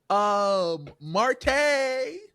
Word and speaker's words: Marte: But she gonna be like, oh, it's your new co-host, Marte. Accent on the E.